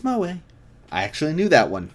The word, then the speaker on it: moe: Pronounced moe. That's moe.